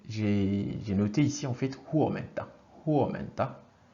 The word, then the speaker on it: huomenta: Alors, en finnois, le premier, j'ai noté ici en fait huomenta. Huomenta. Le U qui se prononce toujours OU, hein, huomenta, qui veut dire bonjour.